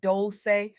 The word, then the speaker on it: Dolce: Welcome to the soft girl era podcast hosted by Dolce, pronounced doulce like sweet softness whispered in French.